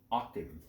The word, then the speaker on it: Aachen: Aachen, 1944, as I was corrected by one of our European brothers, um, which I responded to. Amazingly enough, I lived over there 7 years and still can't pronounce that town name right. So us Americans, you know how we are. We like to butcher foreign names, so we call it Aachen because that's what it looks like to us.